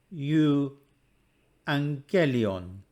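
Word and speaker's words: εὐαγγέλιον: experts of erasmian pronunciation there are vowel pairs which occur that are not diphthongs in these cases the pair is treated as two separate letters they are pronounced separately and any breathing comes on the first letter for example you angelion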